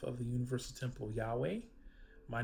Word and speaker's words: Yahweh: So I'm sure if you've been tuning in and watching us, you will have heard that we pronounce the Tetragrammaton, his holy name, Yahweh.